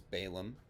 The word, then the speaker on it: Balaam: that is how that's that's how his name is usually pronounced is balaam among english-speaking bible readers his hebrew name is